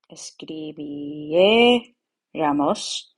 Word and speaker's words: escribiéramos: So remember, in the nosotros form, escribiéramos. Don't forget the accent on the vowel before the R, before the ramos.